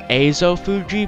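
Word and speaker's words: Ezofuji: now i knew that i know that azo fuji is actually technically pronounced azo fuji because these are a's in in japanese but as a fuji just seems it just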